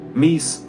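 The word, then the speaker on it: MECE: must be complete while avoiding confusion and overlap mese pronounced me c stands for mutually exclusive collectively exhaustive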